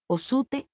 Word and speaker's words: Orsted: Cuando le dije el nombre de Orsted, recordó el nombre de inmediato diciendo Osute. Ose. Es la forma en que lo pronuncia.